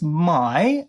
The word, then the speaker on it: May: It's pronounced my uh and the uh last name is spelled M A Y. So like like May, but I guess the German way of pronouncing it is my.